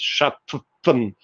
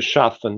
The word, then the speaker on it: schaffen: Originally, it was really double F, but now nobody pronounced it as schaffen. It's simply schaffen. It's single F.